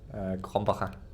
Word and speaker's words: Krombacher: Krombacher. Pronounce that again? Krombacher. Krombacher? Almost. Krombacher.